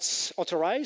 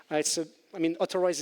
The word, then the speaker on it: Otterize: Otterize is an Israeli company, and with the Hebrew accent, when you pronounce Authorize, it sounds like Otterize, hence the otter.